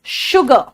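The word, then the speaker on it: sugar: शुगर, श सा नहीं, बिहार वाले ध्यान से सुनो, इट्स शुगर.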